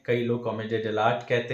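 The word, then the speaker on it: Commedia dell'arte: तो कई लोग इसको कॉमेडिया डेल आर्टे कहते हैं, बट the correct pronunciation of this theatre form is कॉमेडिया डेल आर्ट.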